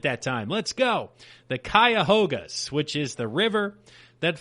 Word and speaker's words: Cuyahoga: how to say it here but the Cleveland Cuyahoga I actually nailed at that time let's go the Cuyahoga which is the river that flows through Cleve